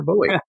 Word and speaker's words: Bowie: And while you're at it, tell us which way you say it, Bowie or Bowie. I like, I forget who it was the other day said, pronounces it Bowie because of the singer David Bowie.